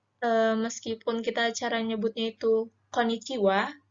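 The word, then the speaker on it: こんにちは: caranya bunyi itu Konnichiwa bukan berarti kita nulis hiragananya itu juga pakai WA yaitu enggak tapi pakai h ya teman-teman jadi oleh di hiragananya itu tulisannya konnichi Ha tapi kalau kita bacanya itu Konnichiwa oke Hai nah Konnichiwa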